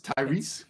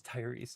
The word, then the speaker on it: Tyrese: Tyrese, like the guy from Fast and Furious? Tyrese? It's Tyrese.